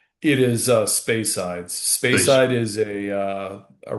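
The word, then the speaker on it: Speyside: What's the correct pronunciation? It is uh spacesides.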